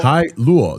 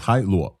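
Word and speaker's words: Hailuo: Hi Lu. That's how I I heard that's I I Minimax folks talked me to to to pronounce this. Hi Lu.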